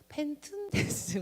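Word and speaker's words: πενθοῦντες: 보시면요, 펜툰테스인데요, 여기가 툰이요, th 발음이에요. 그래서 펜툰테스 뭐 이렇게 됩니다.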